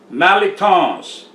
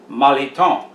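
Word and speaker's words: mirliton: mock shoe mock shoe malatons it looks like but it's pronounced maliton the end is silent this is a vegetable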